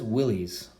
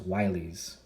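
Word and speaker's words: Willys: jeep and he said everyone says willie's well that's pronounced wily's i'm like i i mean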